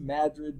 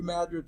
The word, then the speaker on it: Madrid: occurred not in California, but in a region near of New Madrid, Missouri. Now, we pronounce it Madrid, but I think that's called Madrid, because Missourians don't know how to talk about it.